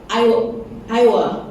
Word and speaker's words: Iowa: Petani-petani di how to pronounce Iowa? Iowa, ya, banjir.